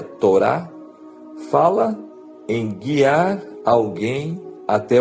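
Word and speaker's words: תורה: da vida humana a própria palavra lei Como já falamos no hebraico se pronuncia Torá fala em guiar alguém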